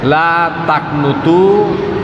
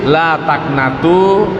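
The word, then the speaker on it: لا تقنطوا: di dalam tafsir Jalalain dikatakan bahwa lataknatu ini bisa dibaca latak itu ya Jadi selain bacaannya lataknatu bisa juga dibaca sebagian ahli juga yang membacanya tuh jadi ada tiga versi oleh ulama kita di dalam membaca membaca kata ini lataknutu lataknatu dan la taknitu nah yang artinya janganlah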